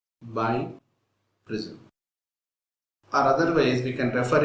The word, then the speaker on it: biprism: let us talk about premise by prism pronounced by prism other ways we can